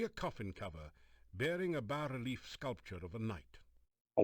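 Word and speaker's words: bas-relief: sculpture of a knife is that how you pronounce that i thought it was always bass relief i've been doing it wrong my whole life the coffin cover is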